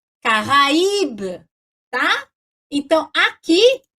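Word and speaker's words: Caraïbe: Se não tiver trema, sem trema, eu faria assim, ó, Careb, Careb. Mas como tem trema, como é que eu leio? Caraíbe, tá?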